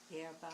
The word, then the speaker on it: hierba: Oh, yerba. Can you guys pronounce No, Hierba.